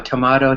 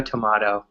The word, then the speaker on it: tomato: pronounced two different ways the joke is oh you know tomato tomato tomahto that's how we talk because some people say tomahto even though it's very rare it's a joke we